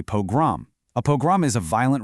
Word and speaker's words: pogrom: This historical crisis wasn't a program, it was a pogrom.